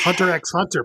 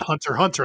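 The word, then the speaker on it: Hunter × Hunter: It's some Japanese quirk of like just putting X in things, but no, the X is silent.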